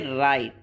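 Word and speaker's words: write: We say right, where W is silent.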